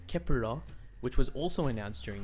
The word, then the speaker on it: 케플러: some of the performances the name kepler pronounced in korean as kepura which was also announced